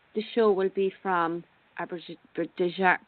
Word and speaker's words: Abidjan: And hopefully the show will be from Abidjan. Pronounce it for me, Brazil.